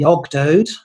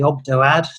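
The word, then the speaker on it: Ogdoad: the greek name uh the ogdode or the obdo ad depending on how you pronounce it but uh the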